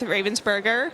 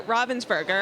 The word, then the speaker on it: Ravensburger: have teamed up with ravensberger or Robin's burger I need to start saying it the correct way yeah the German pronunciation I guess I mean